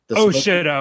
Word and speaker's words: Shito: Shit-o is what it is pronounced.